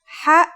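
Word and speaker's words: ح: no counterpart in English it sounds like the sound you make when trying to cool your mouth and throat after eating something very spicy the closest English counterpart to the sound is H the only difference is that it comes from a point deeper down in your throat just like this try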